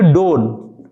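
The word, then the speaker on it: don't: जाएगा नाउ आई डों इसको क्या पढ़ेंगे डोन टी साइलेंट हो जाता है नाउ आई डोंट हैव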